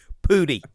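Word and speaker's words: Pudi: should spell okay mountains it sounds like you're saying pooty but are you saying pooty i'm saying pooty it's p-u-d-i pooty it might be poo-dye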